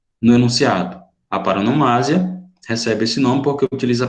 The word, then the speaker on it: paronomásia: Ó, a pronúncia é paronomásia, viu? Porque vem de parônimo, parônimo. Parônimo são palavras, aquelas palavrinhas